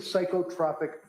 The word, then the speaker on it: psychotropic: What is psychotropic medication with adverse he said stop saying no it's pronounced psychotropic and okay it's psychotropic medication is